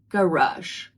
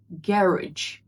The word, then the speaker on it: garage: British and American English, this word is pronounced very differently depending on whether it's American English or British English. In American English, it's pronounced as garage. Garage. In British English, it's garage. Garage. Garage. Both are correct.